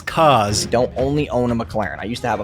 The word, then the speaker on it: McLaren: bragging about his cause don't only own a McLaren I used to have a 570s that was